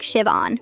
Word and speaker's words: Siobhan: My name is Siobhan. The H is silent. It's pronounced like Siobhan.